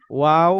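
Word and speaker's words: و: 15 নম্বর মাখরাজ, দুই ঠোঁট হতে, দুই, এই যে দুই ঠোঁট হতে উচ্চারিত ওয়াও, দুই হয়, ঠোঁট একবারে হতে, সহজ, দুই ঠোঁট হতে, দুই দুই ঠোঁট ঠোঁট হতে। হতে উচ্চারিত হয়।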